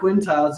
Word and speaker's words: Quintiles: She's the CEO of Encore, a Quintiles Company, which I think I always slaughter Quintiles.